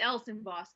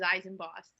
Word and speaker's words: Elsenboss: cody knowles says i thought your name was pronounced eisenboss is that a it's else in boss cody okay i was going to say i've